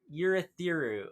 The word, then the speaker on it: Urithiru: Urithiru. Okay, yeah, that's how you pronounce it, I guess.